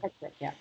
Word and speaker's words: Petschek: Petschek, yeah.